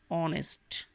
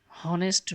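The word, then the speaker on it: honest: এ হবে এবং এন অনেস্ট তো এখানে খেয়াল করো এখানে অনেস্ট এবং আওয়ার এই শব্দটার প্রথমে কিন্তু এইচ এর উচ্চারণ সেভাবে হচ্ছে না অনেস্ট হনেস্ট বলা যাবে না এখানে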